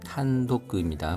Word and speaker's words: 単独: 지민토가 단독으로 탄독입니다. 발음에 주의해 주십시오.